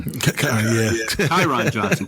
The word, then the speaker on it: Kyron Johnson: Kerryon Johnson thinks he's or how do you pronounce his name? Kyron Johnson? Kyron Johnson.